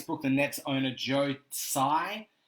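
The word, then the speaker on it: Tsai: the Nets owner Joe sigh I think the T is silent in that he was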